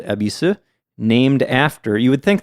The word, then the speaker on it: Yebisu: But yeah, even when it's spelled that way with the old katakana or in English with the Y at the beginning, it's still pronounced Ebisu.